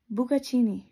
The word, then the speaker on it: bucatini: And that, it's actually pronounced Bucatini. Bucatini. That sounds beautiful, doesn't it?